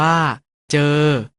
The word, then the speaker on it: เจอ: ประสม กับ สระ เออ สะกด ว่า จอ เออ อ่าน ว่า เจอ เธอ คำ ว่า เธอ